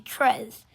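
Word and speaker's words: treize: is pronounced dews and 13 is tres tres or tres well no it's actually tres and tres is is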